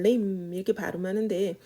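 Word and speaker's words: limb: 얘는 B 발음 안 하고요. 그냥 lim 이렇게 발음하는데 얘는 뭐 팔다리, 수족, 그리고 뭐 새한테는 날개 같은 거, 나무에게 있어서는 가지 같은 거.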